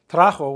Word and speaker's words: trajo: Trajo with a J-O, no accent, trajo.